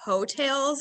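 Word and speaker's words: Heaux Tales: So it's the new Jasmine Sullivan album, and the name of the album is called Ho Tales. It's spelled Heau. Okay, Tales.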